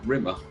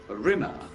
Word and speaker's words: Rimmer: She called me Rimmer. That's your name. It was the way she always said it. A Rimmer. As to rhyme with scum.